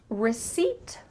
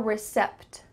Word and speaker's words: receipt: which word is wrong did you hear receipt or recept you heard number two but that's not correct instead the P